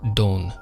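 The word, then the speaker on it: 丼: a bowl of rice which is pronounced Don in Japanese like Don corneo but this character is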